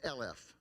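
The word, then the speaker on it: אלף: It goes back to Aleph, but it's pronounced Elef.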